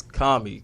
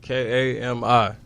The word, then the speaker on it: Kami: How you pronounce it? Say it for us. It's Kami. K-A-M-I.